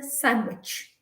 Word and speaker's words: sandwich: c h in fact if you look at the word sandwich it is actually s a n d w i c h but when we pronounce we do not say sand which which is a sandwich sandwich so the d over there is completely negated it has no value um muscle muscle m-u-s-c